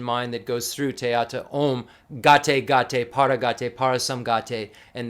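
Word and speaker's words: ॐ: and we see teata om and the OM uh we say has three syllables in Sanskrit uh and that's it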